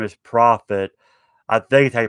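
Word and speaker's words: Proffit: would spell prophet but instead of one f it's two f's so i'm assuming it's pronounced the same way and he has two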